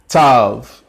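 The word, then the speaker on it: Tav: like a s sound Tov T sometimes this can also be a double letter sometimes will pronounce T or a th usually a modern Hebrew is just simply a plain tea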